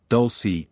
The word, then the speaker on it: Dulce: place there near the small town of Dolce pronounced Dolce New Mexico the many different phenomena those previously